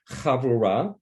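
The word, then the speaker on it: havurah: son danny in our chavurao and being a teacher let me spell it um h-a-v-u-r-a-h and if you want to pronounce it in the hebrew havorah okay it's it means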